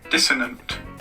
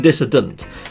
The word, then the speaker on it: dissonant: so here you go this is how it's pronounced dissonant dissonant apparently that's how it's pronounced look this dissonant a freaking Google mate so I've been saying dissident but that says a dissonant dissonant okay cool